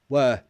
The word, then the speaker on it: were: Can you pronounce were? Again, were. If I were you, blah, blah, blah. However, in a sentence, it sounds like a schwa.